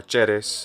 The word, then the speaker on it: Ceres: Ceres, or Ceres in the Italian pronunciation of Latin, being the goddess of the harvest.